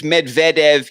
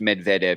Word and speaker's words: Medvedev: being correct when you advise me about name pronunciations a few times you've let me down it's Medvedev even in Russian so it's I was doing